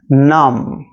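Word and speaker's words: numb: एन यू एम बी इन सारे words में जो बी रहता इसका साउंड नहीं होता जब हम इसको प्रोनाउंस करते इसको बोलते तो कॉम नम तम तो कॉम थ्रू का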